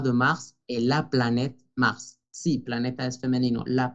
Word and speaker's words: Mars: El mes de marzo también se pronuncia la S, Mars.